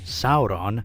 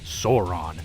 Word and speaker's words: Sauron: As much as I'd like to call him Sauron, the second Dark Lord from the Lord of the Rings, it's actually pronounced Sauron, probably for the best.